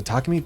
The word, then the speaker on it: Takumi: I need to start calling him Tkumi cuz everyone else does. Even though Takumi feels like the right way to say it, cuz you wouldn't call him Tacky. If like Tkumi, you wouldn't get Tacky.